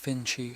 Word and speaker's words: Finch: I made a beeline for the manager, Harold Finch, pronounced Finchy, a wiry guy with a mustache that looked like it was trying to escape his face.